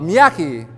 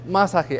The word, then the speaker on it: Masaki: for uh a Miyaki masago is it you it's masaki actually I think to myself after I correct the pronunciation of my name where do they get these other letters from like Miaki really and why is this person